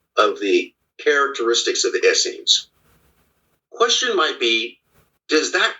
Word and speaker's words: Essenes: Yeah, but my source for the Essenes, or Asseens as they're properly pronounced, but when it is